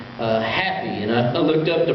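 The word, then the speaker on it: Hapi: you remember last week we mentioned one name happy and I looked up the pronunciation I thought surely that's half higher or something weird like that it's not it's happy which is is ironic because after all these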